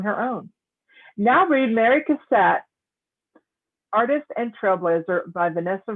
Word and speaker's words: Cassatt: I've heard it pronounced the other way. All right. Well, we'll go with Cassatt.